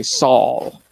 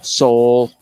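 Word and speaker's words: sol: a little bit more what they call themselves saul soul you know there's lots of pronunciations i think the proper pronunciation is saul so and then they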